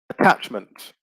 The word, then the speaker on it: attachment: So if we have a look, attach, the noun would be attachment. So the stress remains on the second syllable.